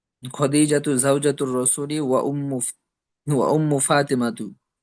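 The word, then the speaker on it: خديجةُ: উম, খা খাদিজাতু জাওজাতুর রাসূলি। খা তো প্রথমত টান নেই, আর দ্বিতীয়ত খয়ের উচ্চারণ তো খদিজাতু খায়ের মতো হয় না।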